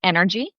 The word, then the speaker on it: ENRG: So, I became aware of an organization, our nonprofit called Energy. So, it is spelled E N RG.